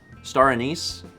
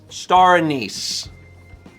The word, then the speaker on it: anise: I mean, I pronounce it with a long A, which is very Wisconsin.